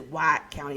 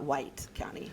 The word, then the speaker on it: White County: And it is White County, it's not White County. So you got to say it right.